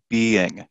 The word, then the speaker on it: being: on a pronunciation note this one is your long e being and you need both of those yeah you need both those vowel sounds the b end but the other one bin okay so that's that's a big difference there the the pronunciation is quite distinct it's been damaged it